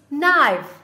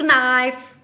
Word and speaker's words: nice: need to help nice no no it's nice don't seek knife knife it is nice here helping her younger